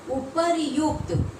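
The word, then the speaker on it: उपर्युक्त: यहाँ कोई रेफ नहीं है, ये रेफ जो ऊपर में है इसका मतलब र का उच्चारण होता है, और यहाँ हो जाएगा उपरयुक्त।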